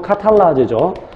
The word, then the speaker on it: 카탈라아제: 이것은 과산화수소가 그 효소에 의해서, 상처 난 부분의 그 효소에 의해서, 그 효소 카탈라아제죠. 카탈라아제 또는 카탈레이스라고 발음하죠.